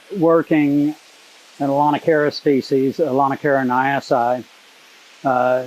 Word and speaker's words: Aulonocara nyassae: in a lanakara species alana caroniasi uh note that i pronounce the ae on the end of that word as long i because that's just a latin ending basically it means a lana